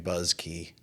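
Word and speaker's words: Buske: Busky. Yeah, I was hearing Buzzky. I think he pronounces it Buzzky, but Yeah.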